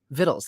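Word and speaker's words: victuals: 12 or vigils or vittles vittles that's how you say it right yeah taking with us vittles for 12 months and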